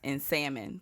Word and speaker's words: salmon: It's just realtor and salmon, please. Ain't no ladies. Salmon. Don't pronounce that L.